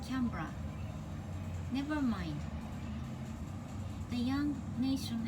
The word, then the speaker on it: Canberra: and she mispronounced it placing the accent emphatically on the middle syllable making it cambera rather than lightly on the first as in camera or even canberra never mind the young